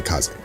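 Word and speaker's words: 風邪: Now the first interesting thing about this is that there's an extra kanji next to wind that you do not pronounce when you're talking about the kind of wind that gets you sick.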